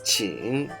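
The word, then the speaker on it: 请: Next example, if you add the speaking radical, this whole thing becomes qing, and it means to ask, to request, and please.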